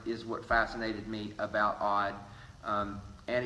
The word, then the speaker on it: Odd: name was really odd some people say that it's pronounced I did but I did double check with people who knew him and his wife and his wife did refer to him as odd his uncle's name was